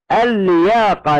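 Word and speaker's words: اللياقة: اليها اللاعبين كثيرا وهي اللياقه نعم اللياقه دنيه تدل على الصحه الجيده اللياقه البدنيه تدل على الصحه الجيده لاحظ كلمه لياقه تبدا بحرف اللام وادخلنا عليها ال لكن نطقا ننطقها لاما واحده مشدده وكتبنا الان معا احسنت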